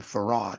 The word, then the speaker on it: Fard: They called him Farad. If I were to ask you to spell that and you didn't know how they spell it, you probably say F-A-R-A-D or F-A-R-R-A-D, Farad, you know, right? But he spelled it F-A-R-D, Fard. Now, why would he spell it Fard and then tell us to pronounce it as Farad?